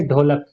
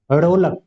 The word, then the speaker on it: ढोलक: जैसे ढोलक ये शुद्ध है। अगर इसके नीचे बिंदी लगा दी तो ये अशुद्ध हो जाएगा। क्योंकि ये फिर बन जाएगा ढोलक।